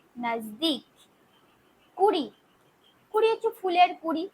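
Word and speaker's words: नज़दीक: নিকটে নিকটে হিন্দিতে হবে নাজদিক নিকটে হিন্দিতে হবে নাজদিক দন্তন্য বর্গের জয় দীর্ঘ ক নাজদিক কুড়ি কুড়ি হচ্ছে ফুলের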